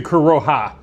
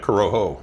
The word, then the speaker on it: Corojo: do Coroha. I always pronounce the J as an H. Oh. Well, I was too, but I was calling it Coroho. Oh, Coroho or Coroha? Coroha.